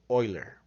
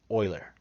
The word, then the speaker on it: Euler: be tempted to pronounce it euler the proper pronunciation for it is euler why don't ask me that's you know that's that's his name that's the mathematician's name that's how you pronounce it euler and e is known as euler's number because